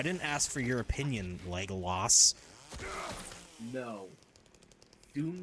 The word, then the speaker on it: Legolas: Listen, I didn't ask for your opinion, Legolas. No. Do not stain that name. Too late. Besides, you said it wrong. It's Leggy Lass.